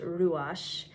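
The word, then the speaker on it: רוח: We as human beings are actually created with in Hebrew it's pronounced ruash.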